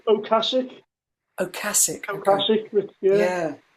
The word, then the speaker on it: Ocasek: Rick Okasik? Ocasek.